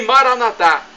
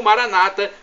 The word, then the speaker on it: Maranata: para o seu bem e Maratá como dizemos nosso católicos ou Maranata como dizem nossos irmãos separados os evangélicos ou protestantes não importa a pronúncia pois o significado é